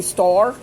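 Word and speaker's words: står: on top of it, a small round open circle on top of it is pronounced O. So ma is O. So S-T-A-R with a round circle over the A would be store.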